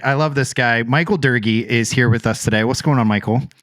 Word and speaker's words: Doerge: It's Dor Durgy. Dorier. It's not spelled Durgy. It's D O E. It's spelled like George, but you flip the O and the E, but you don't pronounce it like it at all.